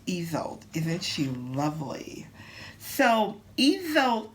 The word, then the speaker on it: Isolde: Her name is pronounced Isolde.